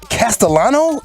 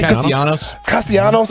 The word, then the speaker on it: Castellanos: Philadelphia Phillies, Nick Castellano? Is that his? Am I saying it right? Castellanos. I've heard it 2 different times, 2 different ways. Okay. All right, good.